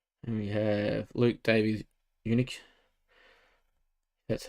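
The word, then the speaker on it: Uniacke: for the tigers and we have luke davies eunuch that's how you say it for north melbourne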